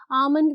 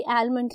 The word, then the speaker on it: almond: आमंड में L silent होता है, कभी भी आलमंड नहीं कहना.